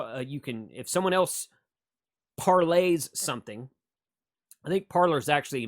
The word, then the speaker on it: Parler: thing you can you can if someone else parlays something i think parlors actually miss uh mispronunciation i think it's parlay uh it's a